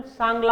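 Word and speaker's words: Changla: उनके लैंग्वेज को यहाँ पे चांगला, इसका प्रोनाउंसिएशन सांगला होगा, ठीक है, सांगला, ठीक है, CHA वाला होगा पर लिखा ऐसे जाता है।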